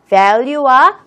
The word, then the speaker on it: value: 아까 value 발음할 때에는 윗니가 아랫입술을 다 하는데 benefit는 B니까 닿지 않는구나.